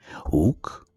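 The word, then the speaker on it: οὐκ: First, u in front of a consonant, uk in front of a vowel, and u in front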